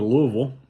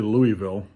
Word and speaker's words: Louisville: We went down to Louisville. For those of y'all that aren't from the South, don't say Louisville, it's Louisville, 2 syllables.